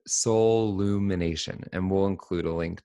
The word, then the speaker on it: Soullumination: There's only one L, like soul. So it's SOUL, and then it's UMINATION, like Soul Lumination.